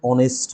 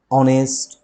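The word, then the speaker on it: honest: যেমন an hour, an অনেস্ট ম্যান, an hair, hair মানে হচ্ছে উত্তরাধিকারী, অ্যান অনার। তুমি দেখো প্রত্যেকেরই শুরুতে এইচ রয়েছে, এইচ রয়েছে, কিন্তু এদের কারোরই এইচের উচ্চারণই নেই। আওয়ার, অনেস্ট, হেয়ার, অনার, তাই না?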